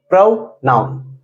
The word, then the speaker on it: pronoun: देखिए, इसका जो करेक्ट प्रोनाउंसिएशन होता है वह होता है प्रोनाउन।